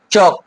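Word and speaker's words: chalk: এফ এর আগে যখন থাকে, যেরকম কাফ, হাফ, এরকম করে কিন্তু কি এলটা সাইলেন্ট থেকে যায়। অনেক সময় কে এর আগে থাকে, মানে অর্থাৎ টক, চক, ফক।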